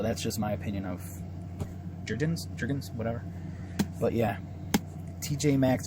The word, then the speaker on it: Jergens: My wife likes Jergens or Jorgens. It depends on how you pronounce it. Jergens or Jergens. We call it Jergens.